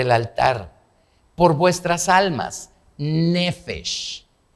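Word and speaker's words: נפש: Porque la vida, esa palabra vida, en hebreo es nefesh. Nefesh se escribe así.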